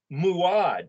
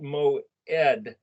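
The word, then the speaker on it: מועד: mem vav iron dalit this looks like it's saying muad but it's pronounced moe ed that iron dalit is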